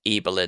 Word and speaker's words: Ibelin: The Remarkable Life of Evelyn, and that's spelled Ibelin.